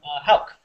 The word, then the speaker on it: Houck: Houck.